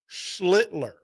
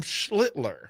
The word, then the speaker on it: Schlitler: Um, Cam, and I have to be careful when I say his last name because Slitler. Cam Schlitler.